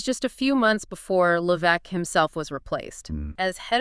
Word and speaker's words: Levesque: And wasn't that when Paul Levesque, pronounced Levesque, right?